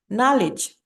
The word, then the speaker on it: knowledge: Knowledge too. Knowledge, the K sound is silent, yeah.